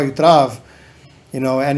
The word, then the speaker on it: Trav: album in the lyrics i'm saying trav so i don't know why they released it like that wow it's you know instead of just they pronounced it with a t-r-a-v-a so that's how my